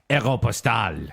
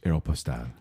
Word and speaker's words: Aéropostale: And do you say Aeropostale or Aeropostale? Postal. Aeropustule, Ew. I believe. What? I got that when I was in the jungles. And the name comes from the French word, which means French airmail service, Aéropostale.